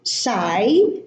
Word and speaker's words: sigh: Okay, we have more words with silent GH, and the GH are at the end of the word, as in high, sigh, thigh.